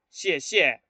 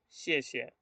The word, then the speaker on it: 谢: Fíjense, para decir gracias en chino, el gracias, lo debemos decir, no decimos xie. Hay mucha gente que cuando estudia chino, que no sabe, no conoce, suele decir mucho xie. Y no se dice xie, se dice xie. ¿Sí? Entonces, el sonido es más suave.